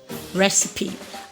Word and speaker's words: recipe: make a sound okay we have at least two sounds for the ending part of the e that's what i want to add to this lesson examples are words that have the e e examples we have recipe recipe i have heard people pronounce this red as recycled okay that either is pronounced okay so you rather say recipe i have next one to be hyperbole hyperbole next one is epitome epitome okay another sound of